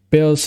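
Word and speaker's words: Baelz: facto element of chaos her name is pronounced bills he hagos bills belseacous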